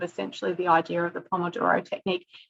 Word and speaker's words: Pomodoro: Pomodoro Technique um so I'm told I pronounce this incorrectly I pronounce it like an Australian Pomodoro is Italian for tomatoes it's I guess supposed to be like pomodor or some something like that but if you think